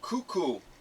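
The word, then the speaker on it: Kuku: And the next one is called Cuckoo, but it's spelled K-U-K-U.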